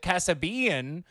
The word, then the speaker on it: Kassabian: this evening is uh as his family pronounces it casabean uh from what i'm told nailed it